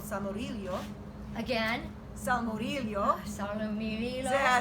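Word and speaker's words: salmoriglio: But if you're Sicilian, they say samoriglio. It's a hard G. It's a lot. It's a lot of syllables. Yeah. Salmorillo, and it's meant as a topping.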